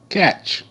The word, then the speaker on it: catch: Catch, c, a, catch, catch, catch, c, a, ch. T is silent. It makes no sound.